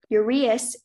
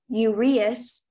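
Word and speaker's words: uraeus: hello your word has the homonym the word is ureas ureas or yurias is a noun new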